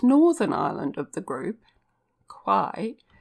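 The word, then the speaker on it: Kauai: island of the group quai is as often pronounced as if it began with a t and kalo is usually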